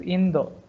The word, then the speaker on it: Indo: If you say India, they don't know. You have to pronounce as Indo.